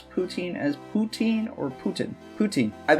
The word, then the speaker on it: poutine: Shady Xion asks, do you pronounce poutine as poutine or Putin?